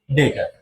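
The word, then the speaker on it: debtor: समझाने वाला हूं बेटा जिसको आप बी साइलेंट करके बोलो क्या पढ़ोगे इसे डेटर अब डेटर हमेशा क्रेडिट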